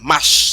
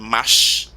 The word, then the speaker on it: mash: said marche in French, but the Patois speakers, all of the French R's were squashed. Okay. Right? So mash.